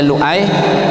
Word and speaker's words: Lu'ai: Sehingga cuma menerangkan bahwasanya Lu'ai itu adalah difathahkan hamzahnya, ya, didombahkan lamnya, cuman mengatakan nahwu sorobnya saja. Dibacanya lu, hamzahnya a, kemudian ya-nya tasjid, Lu'ai, cuman diterangkan seperti itu.